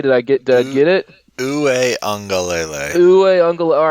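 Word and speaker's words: Uiagalelei: Uwe Ungalele. Uwe Ungalele. All right, I missed a couple of syllables.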